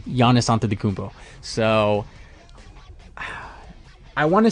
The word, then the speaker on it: Giannis Antetokounmpo: Giannis Antetokounmpo. And then he said it in full motion. He was like, Giannis Antetokounmpo.